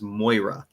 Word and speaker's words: Moira: and stuff her name her name is Moira and I go it's like oh so you so it's from moer right here and she goes you're the first person in this state to ever pronounce my name correctly and I'm just like